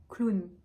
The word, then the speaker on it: clown: donc première chose ce mot on va le prononcer clown un clown ou une vraie ce mot on